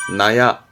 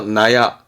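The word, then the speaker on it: 納屋: 놔두는 건물 즉 창고나 헛간 있데 창고나 헛간 발음이 나야 도라가 발음이 나가 와서 나야 발음 때문에 언급합니다 창고는 나야 뒷글자가 호자 집을 말하는 집 자인데 요걸 언급하는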